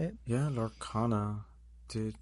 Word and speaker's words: Lorcana: Yeah, Lorcana.